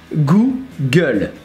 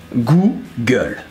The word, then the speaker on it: Google: Well, basically because Google becomes Google. So it's like faire la gueule, with goo. Google.